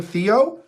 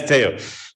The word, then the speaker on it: Teo: i supposed to call is this name pronounced teo and i've been saying theo yeah it's teo but theo's fine i'm sure it's fine